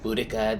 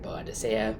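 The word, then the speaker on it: Boadicea: sampled yet which is boudicca the victorious some people say it like that some say bonusea but blue sapphire by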